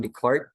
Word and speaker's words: Descartes: So this concept of reductionism was first introduced by René Descartes. Okay? René Descartes, or some scholars would say nga René Descartes lang ang pagbasa ani, but I think that's true.